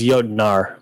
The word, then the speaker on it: Jotnar: I think it's Jotnar, N-A-R. Oh, Jotnar.